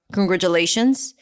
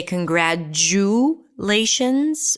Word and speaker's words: congratulations: so first of all the t here is not a t it's a j sound and do we say congratulations or can we say